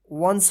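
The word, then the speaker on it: once: कम डन some वंस इसमें भी ओ है और लास्ट में ई है लेकिन इसका ओ उच्चारण नहीं हो रहा यहां पे अ उच्चारण होगा यहां पर नोट में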